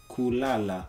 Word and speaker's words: kulala: You have to put the emphasis, like he said, on the last syllable.